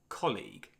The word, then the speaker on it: colleague: Colleague. So this is a noun and has two syllables. The stress is on the first syllable colleague.